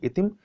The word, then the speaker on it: ITIM: अब कुछ अन्य देशों की समाचार एजेंसियों की देखें, जैसे इजराइल की समाचार एजेंसी इतिम है। इतिम स्पेलिंग है ITIM, इतिम है।